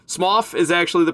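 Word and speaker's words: Smough: Smoff is actually the pronunciation, but everybody says SMO and I've always said SMO and it's everybody knows now that it's actually Smoff, but we all say SMO anyway. And I'll fight you if you say Smoff even though it's correct, man.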